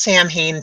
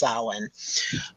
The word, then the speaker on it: Samhain: for pronouncing it correctly it's not Samhain people it's Alan so I give them